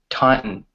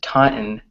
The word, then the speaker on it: Taunton: I grew up called Taunton right so it's pronounced Taunton Taunton in American English but British people just say Taunton or they actually pronounce the t's right another word is